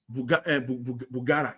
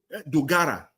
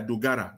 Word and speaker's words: Dogara: Tinubu, Bugara, he came out again. Dogara, when pronounced his name, yeah, Dogara, he's the chairman of one of the committees there.